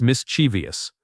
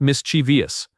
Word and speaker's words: mischievous: This word has three syllables, not four. It is mischievous. Not mischievous.